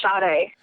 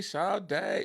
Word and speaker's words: Sade: Usually I'm used to hearing Spady, Sad with a silent E, but yes, no. You got it right.